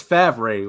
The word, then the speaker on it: Favre: His name is Favre. Why did they pronounce it Favre?